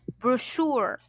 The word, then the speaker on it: brochure: We pronounce as brochure, brochure. So the Brochure. she right, This how we know the when ch we right do. here, I will pronounce it as only sh, not ch.